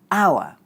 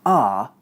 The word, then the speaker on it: our: If you want to sound less like a foreigner and more like a native English speaker, stop saying our and start saying are instead.